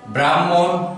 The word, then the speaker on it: ব্রাহ্মণ: দিয়ে আমরা কয়েকটি উদাহরণে যাচ্ছি ব্রহ্ম ব্রহ্ম ব্রাহ্মণ ব্রাহ্মণ এই শব্দ দুটি বা ব্রহ্ম পুত্র এখানে